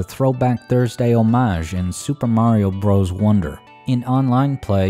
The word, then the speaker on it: Mario: And they do pronounce Mario the authentic Italian way, like Patsy. Chicken Mario?